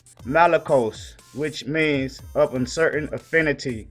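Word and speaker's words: μαλακός: All right, you got the Greek 3120, which is pronounced malakos, which means of uncertain affinity, soft, that is, fine, clothing, figuratively a catamite, effeminate, soft.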